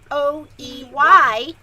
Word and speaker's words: Hoey: I hope I'm saying her last name right. It's spelled H. Call her Hoey. Hoey. Let's just call her Hoey. Because Hoey. But I want to say her name right, and it's Hoey.